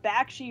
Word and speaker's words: Bakshi: was never sure if is it Bakshi or Bakshi? It's actually Bakshi. I used to always pronounce it Bakshi too, but no, he pronounces it Bakshi.